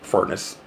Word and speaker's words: Furness: the detective Rob Furness he pronounced it furnace when he introduced himself